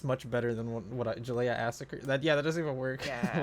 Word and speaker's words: Juliassacre: I mean, like I'm that's adding an like that extra is the two syllable. parts of it. Yeah, Yeah, true. Ju- Juliassacre.